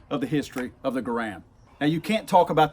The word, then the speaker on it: Garand: John Garand spelled his name G-A-R-A-N-D, and he pronounced it Garand.